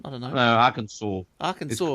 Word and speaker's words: Arkansas: Arkansas. It's pronounced Arkansas.